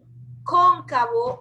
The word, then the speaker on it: cóncavo: Lleva tilde, esta O que te estoy señalando, lleva O. Cóncavo, para que diga cóncavo. La O que va al lado de la C lleva tilde.